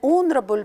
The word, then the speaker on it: honorable: an own estimate an honorable person or an hour here the letter H is not a vowel but we don't look at it at all because it's silent here it's a silence